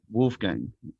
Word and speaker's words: Wolfgang: I've got an international guest with us today, Wolfgang. Am I saying it correctly, my friend? Yes, perfectly. Wolfgang.